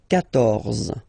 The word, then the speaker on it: quatorze: So remember, Q and U here, well, basically you get to put this U vowel, because that's the rule in French, even if you don't pronounce it, okay? So you will get the sound K here.